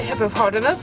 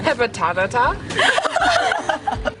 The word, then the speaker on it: hippopotamus: You know, I only learned how to say hippopotamus like the other week. What were you saying before? Hippotatata.